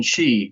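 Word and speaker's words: 四: The pronunciation "she" means death.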